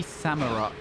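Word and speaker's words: Samurott: mag samur I I feel like it should be samur because it's Samurai um but I say samura I don't know why I say it like that it's weird where you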